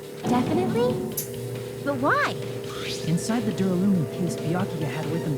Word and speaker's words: Duralumin: Inside the Duralumin case Byakuya had with him during the party, Duralumin. That's how you pronounce it.